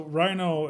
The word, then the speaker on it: RiNo: Well, so Rhino is spelled R-I-N-O, and that's not Republican in name only. That's actually a reference to the River North area.